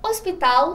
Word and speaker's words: hospital: por exemplo o hospital hospital se pronuncia o hospital sem o pronunciar o h disciplina pronuncia assim sem